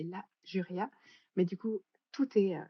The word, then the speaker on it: La Juria: Ouais, Alors normalement, je sais que, bah, notamment sur mon site et cetera, ça s'écrit tout attaché, mais en fait, c'est La Juria.